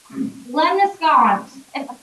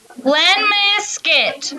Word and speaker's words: lemniscate: Lemniscon. Lemniscon. I'm pretty nasty. I can't say it. Okay, will you pronounce it for me? Lemniscate. Lemniscate. Let me show you a skit. That's what it sounds like.